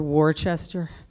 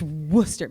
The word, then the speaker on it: Worcester: Elizabeth Bishop poem and I mistakenly pronounced Worcester Worchester don't you are from New England like its Worcester but I never mispronounced